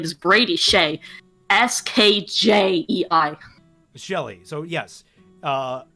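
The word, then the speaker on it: Skjei: player on the rangers his name is brady shea s-k-j-e-i shelly so yes uh savara and shelley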